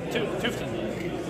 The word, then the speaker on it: Tufteln: So I'm here with Joshua from, pronounce this for me, Tufteln? Tufteln.